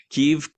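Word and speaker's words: Kyiv: How do you pronounce it properly? Kiev.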